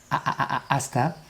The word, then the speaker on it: hasta: Remember the H at the beginning is silent, so it's not hasta, it's hasta.